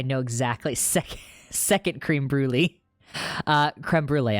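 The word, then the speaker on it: crème brûlée: Creme brulee, I do know that's how you pronounce the word.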